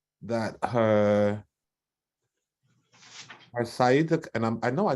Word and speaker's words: sciatica: So sigh, at, or think of attic in the house. So sigh, attic, sigh, attic. Sigh. I want to try that. Thank you so much for that phonetic pronunciation. Sciatica.